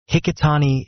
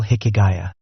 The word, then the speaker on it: Hikigaya: Hikitani is a misreading of the characters that spell Hikigaya. The character for Valley, which is the last character in Hikigaya's name, is often read as Tani.